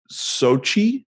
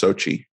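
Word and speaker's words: Xochitl: I think the way you pronounce it is Sochi. Yeah. Sochi Gomez. Okay. Yeah. It's like a weird spelling, but it's just Sochi.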